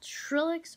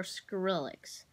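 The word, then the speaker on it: Skrillex: I don't know if I'm pronouncing it right, but there's two ways to pronounce it. Trillix or Skrillix. But either way, his name is Skrillix, and he's my new favorite guy.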